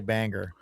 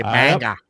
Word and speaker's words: Bangor: don't they they don't say the R at the end. They don't say Bangor. They say Bangor.